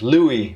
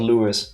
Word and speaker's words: Louis: Pronounced Louis, not Louis.